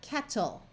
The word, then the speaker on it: kettle: so we will have kettle now what is the purpose of this e here this e doesn't do anything as far as a sound but in English spelling